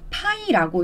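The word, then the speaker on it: π: 자, 얘는 읽을 때 파이라고 읽습니다.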